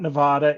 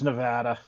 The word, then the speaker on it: Nevada: It's not Nevada, it's Nevada. I swear. Oh, man.